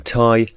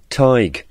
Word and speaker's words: Tighe: at work northing that some people pronounce his surname tie and others tige now we'll use the pronunciation tie in this documentary in